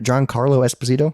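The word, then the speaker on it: Giancarlo Esposito: John Carlo did I say his name right John Carlo Esposito who's that oh is that the guy from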